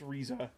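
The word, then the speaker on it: Riza: I tried to call her Reza, but my dad is like, "That's spelled Risa." And I'm like, "It's Reza, dad." Cuz I wanted to name her after Reza Hawkeye cuz Full Metal Alchemist, you know.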